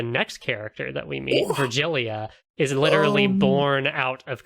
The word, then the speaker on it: Virgilia: Okay, I was pronouncing it Virgilia, like an H sound for the G. That's not right? No, It's I think Virgilia. it's like after Virgil, the Aeneid and all that.